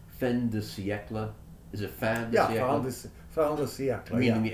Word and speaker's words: fin de siècle: And am I getting this French term correct in the pronunciation? Fin de siècle? Is it fin de siècle?